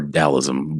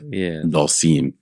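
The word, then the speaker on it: Dhalsim: Or Dalism, but Dalsim is how you actually pronounce it.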